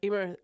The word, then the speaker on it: Emer: I'm like, Emer rhymes with lemur. Yeah. Emer, lemur.